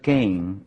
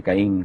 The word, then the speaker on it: Caín: Lo que ahora se tiende a pronunciar Cain en Inglaterra, más que Caín como en español.